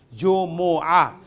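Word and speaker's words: جمعة: Correction natin ang word na Jum'a. Sabi natin, Jum'a ang pronunciation. Actually, hindi sukon yung mim. Kailangan Jumu. Jumu'a. Hindi, ang correct na pronunciation ay hindi Jum'a. Jumu. Jumu'a. Yan ang tamang ano niya, vowel.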